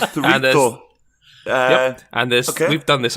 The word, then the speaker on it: chorizo: Yep, that's how you pronounce it. Chorizo.